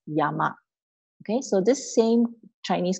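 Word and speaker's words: 山: So in Japan, the Chinese way of pronouncing this word is san. The Japanese way is pronounced as yama.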